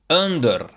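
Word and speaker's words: ëndërr: On the other hand, the E with two dots is pronounced this way. Like the word about, about. So, A word in Albanian with this letter would be under, under, which means dream.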